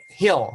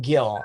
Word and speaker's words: Gil: so in the Philippines there's a lot of Silent J's and G's in the Philippines I actually grew up with a name uh Hill was my last name it wasn't until that's how I pronounced it it wasn't until I came to this country that everybody started saying Gil and I just okay